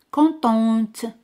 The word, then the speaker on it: contente: Al añadir al final se pronuncia T. Contente.